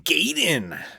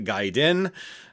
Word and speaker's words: Gaiden: to play through some Ninja Gaiden or Ninja Gayden as we used to call it back in the day because we didn't know any better, but it is actually pronounced the Gaiden.